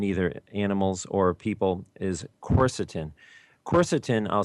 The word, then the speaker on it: quercetin: cancer cells in either animals or people is corset in' corset in I'll spell it it's Q u e r c e